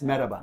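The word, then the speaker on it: merhaba: just say hello uh Mahaba Mahaba yes Mahaba oh Salam Salam isaba more traditional maraba yeah but we we we um it's a silent h really it's maaba yeah maaaa maaba okay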